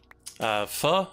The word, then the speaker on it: pho: Pho, it's a, I believe, Vietnamese soup. It's spelled P-H-O. Pho.